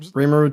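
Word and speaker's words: Rimuru: Remaru from Remaru Tempest from Slime.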